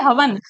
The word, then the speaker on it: हवन: home बोलते हैं ना इसको शुद्ध रूप होता है हवन लेकिन नॉर्मली बोलने का